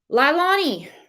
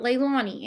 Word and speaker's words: Leilani: Tweet he put out lilani and yes I'm pronouncing it that way lie not Leilani anymore named as the prom